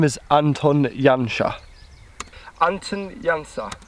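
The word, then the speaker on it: Janša: Hoopoe pronounced his name correctly I did not pronounce his name correctly his name is Anton Jung ha Anton Yong Yong ha and he was a Slovenian beekeeper back in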